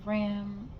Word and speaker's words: Ra: The symbol of the ram, the deity of sun, fertility of life and growth, which is pronounced as Ra as in the rays of the sun.